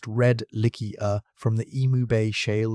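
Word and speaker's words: Redlichia: from the deserts of Utah, and on Redlickia, pronounced Redlickia, from the Emu Bay Shale of South Australia, rocks more than 500 million years old.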